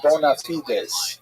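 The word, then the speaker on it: bona fides: would call in Latin the term bonafides right maybe you've heard bonafide as that's how Americans say it right bonafides means good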